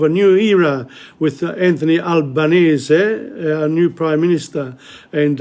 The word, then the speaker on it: Albanese: people in the media will say Albanese rather than Albanese Albanese easy to say you know the the the actual pronunciation is syllabic in Italian so it shouldn't be